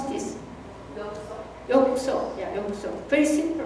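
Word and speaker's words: ようこそ: And in Japanese, how do you pronounce this? yokuso.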